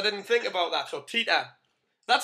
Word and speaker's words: Teta: actually, we pronounce it Teta because Teta, we know in Spanish, Oh. it's not the best I didn't think about that there, yes.